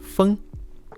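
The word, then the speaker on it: 風: sticker it includes the traditional Chinese character for wind pronounced fun and now the final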